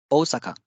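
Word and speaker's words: おおさか: okashi it is okashi Osaka Osaka there is a double o sound here so o Saka it's not Osaka it's Osaka Kani crab umbrella you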